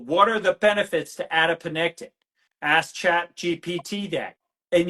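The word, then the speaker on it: adiponectin: Adapene.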